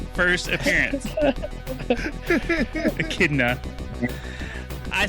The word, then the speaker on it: Echidna: Which game is Knuckles the Echidna first appearance? Echidna.